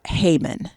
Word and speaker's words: Heyman: So Bertha Heyman, and that's Heyman. I believe I'm spelling that, pronouncing that correctly. But so the Heyman that I was talking about is spelled vastly differently. Okay. So just saying. So this is like, hey, man.